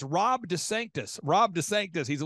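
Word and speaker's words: DeSantis: of he's head of Rhonda sanctimonies I'm sorry I mispronounced it's Rob Des Sanctus Rob Des Sanctus he's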